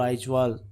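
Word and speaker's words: Aizawl: आइजोल बोलते हैं ना, इसका थोड़ी प्रोनाउंसिएशन रहती है, आइजोल, आइजवाल, ठीक है।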